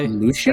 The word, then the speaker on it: Lucian: No, it is Lucian. Lucian. Lucian. Okay, this is Lucille, I guess. Oh yeah. That's how you pronounce it.